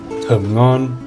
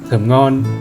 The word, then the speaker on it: thơm ngon: Thơm ngon.